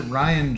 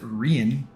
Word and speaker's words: Rian: Now, Billy, he pronounces it Ryan Johnson. He doesn't pronounce it Rian. He pronounces it Ryan.